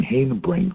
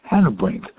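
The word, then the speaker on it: Hanebrink: in bakersfield and um he explained to me that harry haynabrink didn't pronounce his name hayden brink he pronounced it hannah brink or harry hannah bring pronounce it hating to brink i don't remember which but we talked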